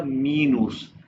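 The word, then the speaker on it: minus: क्लाइस जीबर माइनस का spelling वही है लेकिन हो गया मीनूस according to German alphabets मल्टीप mall divide को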